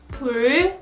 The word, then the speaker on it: 불: 불, 풀, 뿔.